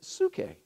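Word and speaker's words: ψυχή: and so the Greek word for soul is sookay and it's spelled really pee-yew excuse me PS you see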